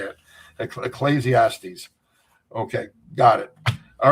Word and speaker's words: Ecclesiastes: Ecclesiastics. Ecclesiastics. Okay. I'm trying to pronounce it on the air and I couldn't I couldn't say it. Ecclesiastes.